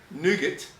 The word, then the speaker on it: nougat: Nougat. Like a nugget. Like nougat. What you said... You don't pronounce the T, it's French.